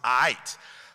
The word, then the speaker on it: aight: The proper response is aight. I understand you're in school, but it's spelled A-I-I-G-H-T, and it's a schwa.